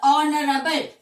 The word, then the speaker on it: honorable: Similarly, when you come across the word honest or honorable, how do we pronounce this particular word?